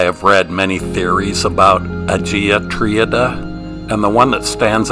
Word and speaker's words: Agia Triada: The name of this site is actually pronounced Agia Triada, which is right down the road from Phaistos, which is the ruins we were just at.